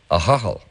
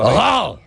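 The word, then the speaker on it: Ahoghill: A hochel. Oh my God. Now, you have to, but that's the way it's pronounced normally. It's a hochel. Now, here we pronounce it a hochel.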